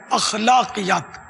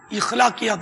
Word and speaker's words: اخلاقیات: اس سوال میں دو تلفظ, ایک تو وہ اخلاقیات, الف پر زبر ہے, اخلاقیات, اخلاقیات نہیں, عوام اخلاق بولتے ہیں, اصل تلفظ ہے اخلاق.